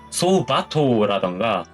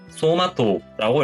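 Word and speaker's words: 走馬灯: 주마등을 말을 할 때는 소바토라던가 소우마토가 아니라 소마토라고 읽는다 라고 하는 거를 체크해 두시면 될 것 같아요.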